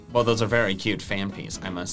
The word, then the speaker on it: Phanpy: Can we just take a moment to remind everyone that John pronounces fan pee fan fee because he thinks there's an H after the second P?